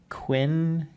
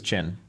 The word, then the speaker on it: Qin: pronounced this thing because I was like Quinn King cooking yeah you heard that it was chin chin yeah so that's cool